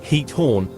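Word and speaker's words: Giethoorn: The pronunciation of heat horn is approximately heat horn with a gutteral ch sound similar to the German sound. The G at the beginning is pronounced with a soft aspirated H sound common in Dutch.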